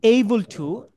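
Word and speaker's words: able to: এই বল্টু এদিকে আয় সো এই যে জিনিসটা এটার উচ্চারণটা এরকমই এই বল্টু এই বল্টু এই বল ঠু সো আম এবল টু আম আই এম কে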